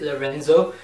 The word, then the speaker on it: Lorenzo: It's with Jerry Lorenzo, that's how you pronounce it, Lorenzo.